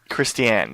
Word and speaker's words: Christiane: Christiane, yes.